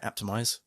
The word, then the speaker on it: Apptimise: that's the right way of saying it right optimized correct yes so before we get into the